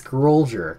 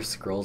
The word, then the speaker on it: Scrollger: It's Scrollger, kind of like soldier, Scrollger. That's why it's spelled that way.